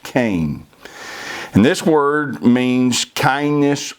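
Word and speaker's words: chen: the hebrew word cain c-h-e-n but pronounced cain and this word means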